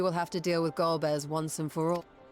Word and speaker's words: Golbez: To free Ashdaya, I expect we will have to deal with Golbez once and for all. That's how it's pronounced? I forgot. I thought it was Gobez.